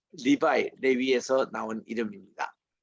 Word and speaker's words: Levi: 그래서 우리 레위인 할 때에 그 레위 할 때 L-E-V-I 이거를 영어로 리바이라고 읽습니다. 리바이.